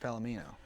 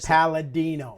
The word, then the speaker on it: Palladino: Howard Finkel or Rich Palomino? Okay. I gotta let you know something. You say his name wrong. What am I saying? Palladino. Palladino. Palladino.